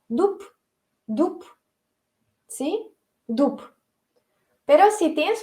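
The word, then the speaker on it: дуб: Como por ejemplo, si tienes dub, se escribe con B, pero ¿qué pronunciamos? Porque B está al final de la palabra y la pronunciamos como sorda, dup, ¿sí?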